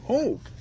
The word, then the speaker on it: Hoek: Yep, I'm here, and I'm when Hoek. It's pronounced Hoek.